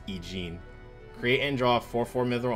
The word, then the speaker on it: Eugene: Eugene's choice. Gotta say her name right. It's not Eugen, it's Eugene.